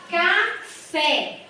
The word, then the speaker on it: café: Então, por isso que eu acentuo, por exemplo, a palavra café. Café. A última sílaba foi a mais forte. E ela é uma oxítona, né? Terminada em E. Então, eu preciso acentuar.